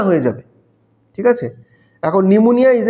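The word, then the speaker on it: pneumonia: খুব একটু নতুন ধরনের পি দিয়ে শুরু এবং পি টা কিন্তু সাইলেন্ট পি সাইকোলজি স্পেলিং এ যেমন পি সাইলেন্ট থাকে নিউমোনিয়া স্পেলিং এও কিন্তু পি হচ্ছে সাইলেন্ট স্পেলিংটা তোমরা আন্ডারলাইন করে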